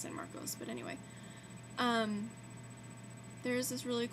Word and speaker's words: San Marcos: People say Marcus, but I've always heard it be pronounced San Marcos.